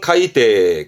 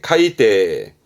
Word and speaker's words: 海底: 바다의 밑바닥이 해저의 저자입니다 발음은 카이데 카이데 요거 가장 많이 보죠